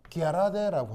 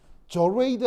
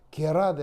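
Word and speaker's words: gerade: 저레이드 아니에요. 저거 영어 아니고 독일어입니다. 게라데 알겠죠? 라비 뭐라고? 결란이요? 아 게라데 이게 이게 독일어는 영어처럼 돌 이런 발음 없어요. 독일어는 그냥 한국어 발음하듯이 그대로 발음하시면 돼요.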